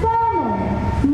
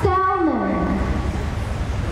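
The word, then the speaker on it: salmon: the orange fish meat that you eat is pronounced as Salon not Salon Simon Simon the N that we eat or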